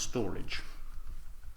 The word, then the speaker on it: Storj: Right storage or as it's meant to be pronounced storage uh pretty much the entire Max total supplies